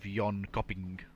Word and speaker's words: Jönköping: The factory province is to the south of Jönköping. I am probably butchering those pronunciations. Like, absolutely smashing the living teeth out of them. So the K is a sh.